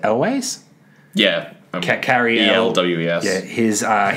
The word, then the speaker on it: Elwes: Now, how do you say his last name? Is it Elways?